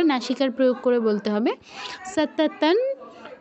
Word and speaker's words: সততং: সততন জপ্য তৎপরঃ, সততন জপ্য, জৈপ্য কেউ বলবো না, জপ্য তৎপরঃ।